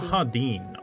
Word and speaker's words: Rahadin: His name is Rahadin. Rahadin.